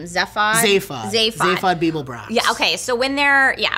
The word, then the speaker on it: Zaphod Beeblebrox: Like when it's so suspenseful when they're meeting, how do you pronounce his name? Zaphod Beeblebrox.